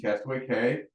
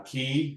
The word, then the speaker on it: Castaway Cay: stop at their Disney's Private Island which is Castaway K uh key there we go uh and so you you